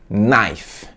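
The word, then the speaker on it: knife: faca em inglês e a pronúncia é naf naf a exemplo de não que eu falei no vídeo passado a essa letra k e silenciosa é uma saia elano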